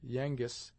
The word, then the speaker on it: Yengeese: If the former is pronounced Yangis, it is almost identical with Yankees, and Indian words have seldom been spelt as they are pronounced.